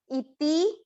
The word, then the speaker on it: इति: पहले चरण पर फिर से ध्यान दें , "इति" में लघु स्वर है इसलिए इसे लंबा न खींचें - "इति गुह्यतमम शास्त्रम", "इति गुह्यतमम शास्त्रम"।